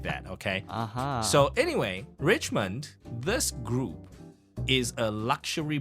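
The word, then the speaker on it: Richemont: by a company called Richmond Richmond okay Richmond okay but again it we are supposed to pronounce it French so this one is richmon yeah it's it's supposed to be like that but I you know I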